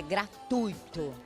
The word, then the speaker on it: gratuito: Gratuito. E aí, professora, essa palavra tá certa ou tá errada? Ah, não tá não. Por que não? O certo é gratuito.